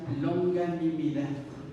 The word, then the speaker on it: longanimidad: Y esa palabra se llama o se pronuncia longanimidad.